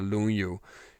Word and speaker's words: Lunyu: In Chinese, it's the Lunyu. Japanese say Longo. Same kanji, they pronounce it differently, Longo.